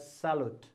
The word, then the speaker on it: Charlotte: And his mother's name, okay, spelling C-H-A-R, then L-O-T-T-E, Salot. Okay, you have to pronounce as Salot.